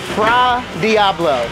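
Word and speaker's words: fra diavolo: bite of the seafood fra Diablo that's the correct way to say it I'm going to start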